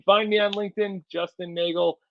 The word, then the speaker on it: Neagle: You can find me on LinkedIn, Justin Neagle, Neagle. It's spelled like beagle, but pronounced like bagel, so you know.